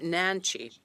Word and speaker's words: Nenci: Nancy, am I pronouncing your name? Nancy.